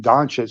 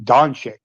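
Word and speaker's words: Dončić: __ ] still mispronounces instead of saying donet he kept saying donic I'm like dude this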